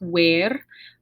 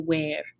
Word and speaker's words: ver: little word to pronounce where uh it sounds like our english where but it's we want to have try and have that a sound as much as possible where and this is a